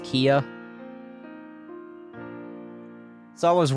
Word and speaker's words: Kea: His name is pronounced Kia.